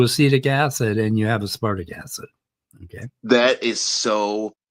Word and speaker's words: aspartic: And if you pronounce, and don't say aspartic acid, like a wood tick, say aspartic acid, like damn, and that's a D.